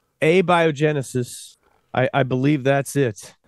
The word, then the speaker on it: abiogenesis: accent on the a a and the J A biogenesis I I believe that's it yes I remember